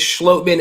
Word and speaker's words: Schlottmann: it for months now it is schlotman and i'm so happy